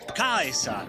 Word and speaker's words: Caesar: 1 Century BC Rome which would be with a hard SE so instead of Caesar he pronounces it AUST Kaiser and attention to detail